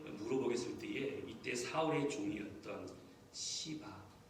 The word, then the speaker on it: 시바: 때에 이때 사울의 종이었던 시바 발음 잘하셔야 돼요. 잘못 되게 말씀하시면 욕이 됩니다.